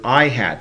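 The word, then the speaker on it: î: known as the vector I hat that symbol over the top of I is pronounced ihat and so ihat is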